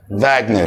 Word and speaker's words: Wagner: الماني تمام وانت بتذاكر ما اسموش واجنر اللي يقول لك واجنر اديله على قفاه على طول اسمه فاجنر تمام كده عشان الدبليو هنا تنطق في في الالماني ماشي فهو ادولف فاجنر